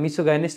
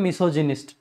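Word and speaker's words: misogynist: मिसोगाइनिस्ट basically क्या हो गया, नफरत महिलाओं से। वैसे गाइनिस्ट नहीं पढ़ते, इसको एग्जैक्टली प्रोनाउंसिएशन यहाँ पे होता है मिसोजिनिस्ट, मिसोजिनिस्ट जब पढ़ते हैं यहाँ पे इसमें।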